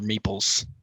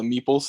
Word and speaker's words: meeple: go back to the meeples thing what the is a meeple it just rhymes with people okay um yo yo